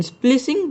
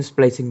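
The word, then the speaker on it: splicing: Number 6 म्यूटूस horrific gene स्प्लिसिंग। ये क्या होता है? एक मिनट, इसे प्रोनाउंस भी कैसे करते हैं? अच्छा, इसे जीन स्प्लाइसिंग बोलते हैं।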